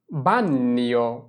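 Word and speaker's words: bagno: উদাহরণ দেখি প্রথমেই বাথরুম বাথরুমকে বলা হয় বানান বানিয় বানিয় মানে হচ্ছে বাথরুম তাহলে চল আমরা এই শব্দের উচ্চারণটা একটু বিস্তারিতভাবে দেখি প্রথমেই বানিয় উচ্চারণ করার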